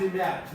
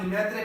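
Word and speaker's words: Lemaître: देते हैं सिर्फ कौन, जॉर्ज लीमैर, जिसे आप लिमैत्रे पढ़ते हैं, हम पाकिस्तानी अपनी प्रोनाउंसिएशन में, और मैं भी पढ़ता था पहले। मैंने एक लेक्चर में जॉर्ज लीमैत्रे कहा था, तो किसी ने मुझे मैसेज कमेंट किया था कि सर ये लीमैर भी कह सकते हैं आप,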